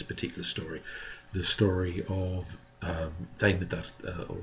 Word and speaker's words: Demeter: story, the story of Demeter, or Demeter as a more kind of modern day pronunciation, and her daughter Kore, the maiden Kore, can be understood as an allegory of the changing seasons.